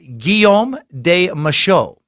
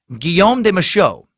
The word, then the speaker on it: Guillaume de Machaut: sucked the pronunciation is Guillaume de Machaut Guillaume de Machaut uh geo scuse me giome de Machaut yeah there we go hard G isn't ghost or gas and he said G